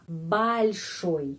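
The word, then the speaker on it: большой: Tapi o di sini pengucapannya a balsoi.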